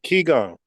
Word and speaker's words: Qigong: It says Reiki and how do I pronounce it? Gong or? Qigong.